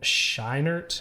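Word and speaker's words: Scheinert: it's Daniel Quan and Daniel I think shinert I think it's how you say his name but they collectively go by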